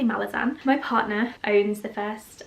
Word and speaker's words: Malazan: in the malazan series which is apparently pronounced malassen but that sounds silly in my accent so i'm gonna say malazan my partner owns the